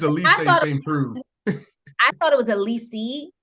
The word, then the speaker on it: St. Preux: Please tell me how to I've been mispronouncing your name for months. Please tell me how to say it. It's Elise St. Preux.